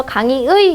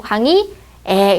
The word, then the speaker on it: 강의의: 그냥 닐리리 이렇게 얘기하는 거고 단어의 첫 음절 이외의 의는 이로 그다음에 조사 의는 에로 발음한다. 그래서 강의의 이렇게 해도 되고 강의에 이렇게 발음해도 된다는 거죠.